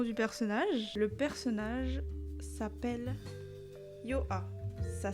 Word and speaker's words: Yoha: Le personnage s'appelle Yoha. Ça s'écrit Y-O-H-A.